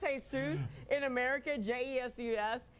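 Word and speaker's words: Jesús: If it's Jose, if it's Jesus in America, J-E-S-U-S, in Spanish, you speak Spanish. The J is pronounced H, so it's Jesus.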